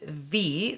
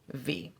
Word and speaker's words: Viy: so we started the week last week with v that is spelled v i y a 1967 soviet horror